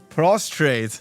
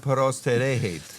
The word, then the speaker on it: prostrate: prostrate No, you said perostrate. So, the king's servants at Persians always add syllables to words that aren't there.